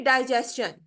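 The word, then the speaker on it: digestion: the word ending S यानी शन से पहले टी न से पहले अगर एस आ जाता है तो उसकी साउंड जो है वो स और च दोनों का मिक्सचर होगा जैसे सजेशन सन सजेशन ठीक है ये शन की आवाज नहीं निकाल सजेशन फिर डाइजेशन डाइजेस्ट चन ठीक है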